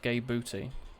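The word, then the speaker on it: Gae Bolg: The favourite one is Gay Buddy, pronounced Gay Booty.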